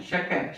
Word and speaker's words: chat: Shak.